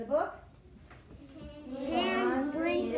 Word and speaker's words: Hans Brinker: Hans Brinker. It is Hans. That's how you pronounce that. That is Hans Brinker.